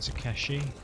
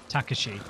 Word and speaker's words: Takashi: It's not Takeshi. I've been saying Takeshi my whole life. Takeshi's castle. Takashi. I know the rules of Japanese pronunciation loosely. Takashi. All the middle vowels are said very fast. The ending vowel said drawn out.